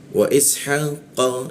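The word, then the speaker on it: إسحاق: Wa ishaqa, nah huruf qa ya, cara membaca qa itu bibirnya a dia, a tapi keluarnya itu o. Wa ishaqa, qa keluarnya o tapi mulutnya a, qa seperti itu ya.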